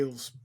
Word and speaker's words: Elwes: It's Elwes.